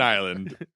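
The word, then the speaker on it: Islay: I'm getting so into I lay scotch Ila Isla I know this is America and I'll pronounce it how it looks I lay on an island uh Isla uh as the scotch would say you know when in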